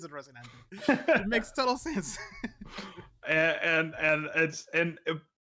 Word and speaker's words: Rocinante: How is it pronounced? Rocinante?